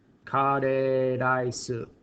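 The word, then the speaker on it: カレーライス: This is a katakana word. That's why it's in katakana. It's borrowed from English. Kare rice is how you pronounce that.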